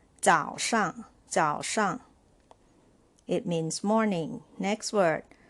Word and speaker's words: 早上: This is neutral tone, so you can pronounce shang shang like this. 早上早上 it means morning.